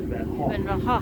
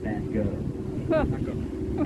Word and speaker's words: Van Gogh: And that is the correct Dutch way to say it, Van Gogh. In this country, we must pronounce it Van Gogh.